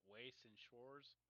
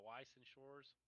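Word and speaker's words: Weiß Schwarz: Waste and Shores? Weiss, yeah. Yeah, Weiss and Shores.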